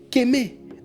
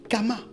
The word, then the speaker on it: Kemet: Donc, si le T est silencieux, la prononciation de Kemet est Kémé ou Kama.